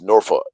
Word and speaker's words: Norfolk: uh from Virginia from Norphick. I call it Norphick, bro. And there and they call it Norfolk.